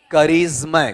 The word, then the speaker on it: charisma: उच्चारण बताओ देखिए क्या है आपका, करिश्मा। करिश्मा या करिश्मा, देखो जय खा गए अपन आधा, तो करिश्मा, ठीक है।